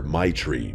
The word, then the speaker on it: Maitreyi: She laughed and told me everyone just calls her Maitri because that's basically how you pronounce it.